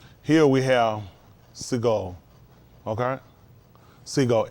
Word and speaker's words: Segol: Segol, S-E-G-O-L, Segol. That's how you pronounce it, Segol, Segol, Segol.